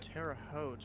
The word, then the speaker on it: Terre Haute: How do you pronounce the name of this airport? Terre Haute? It's Yeah. Terre Haute, but you'd call the controllers Holman, just like